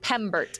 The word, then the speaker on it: Pembert: pronounced Pembert if you reach his name. Pembert. Pembert. With an M.